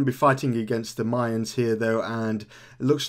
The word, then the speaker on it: Mayans: Mayan's fault this lady was calling it The Myers like like the N like you don't pronounce the N there but I'm going to call it the Mayans because uh that's probably the proper way of